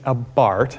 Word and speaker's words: Abarth: still out I mean I think it's it's a Bart and I think you were correct I think I've been calling it a b but the reason is is because Italians cannot pronounce th they can't do that so the question is is it really a bar because apparently the guy's named Carl bar now I'm boring everybody yeah is actually Austrian huh they can't pronounce